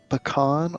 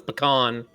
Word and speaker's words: pecan: ask about is uh is it pecan or pecan i've always i'm coming down as word of god on this one it's pecan it is pecan that's the general american all of our teachers